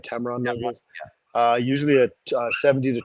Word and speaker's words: Tamron: d500 um and Tamron Tam say it right Tamron uh usually a 70 to 200 or I